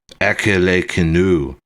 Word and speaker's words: acalycina: The species Acalyciana is pronounced Acalecinu and means without a calyx.